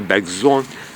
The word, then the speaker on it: Bergson: Même Bergson, il faut le prononcer Bergson, etc.